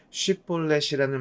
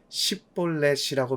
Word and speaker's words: 쉽볼렛: 장악하고 그곳을 지나는 사람에게 쉽볼렛이라는 말을 하게 해서 발음을 잘하면 지나가게 하고 발음을 못하고 십볼렛이라고 말하면 그를 죽였다고 기록하고 있습니다. 한국 사람들이 영어의 R 발음을 못하고 P와 F 발음을 못하는 것처럼 에브라임 사람들이 쉽볼렛 발음을 못하는 것으로 에브라임 사람인지 아닌지를 구분해서 죽인 것이지요.